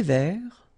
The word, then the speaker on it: vert: Un thé vert, final T not pronounced.